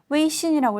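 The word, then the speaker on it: 微信: 웨이신이라고 읽습니다.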